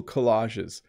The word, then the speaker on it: collage: made a few cool collages in my life so again collage that's how you would pronounce that a collection of images